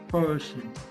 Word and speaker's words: person: इसका मतलब रा उड़ गया। पर्सन, यू आर a good पर्सन। पर्सन, पर्सन, पर्सन, पर्सन। तो रा को हम क्या करेंगे? क्लोज कर देंगे। इज not pronounced, it is dropped.